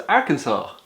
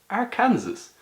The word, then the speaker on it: Arkansas: That says Arkansas. Well, we actually discovered this ourselves. The Arkansas is a French colony or something like that. So the S at the end is silent or pronounced like a as the French do.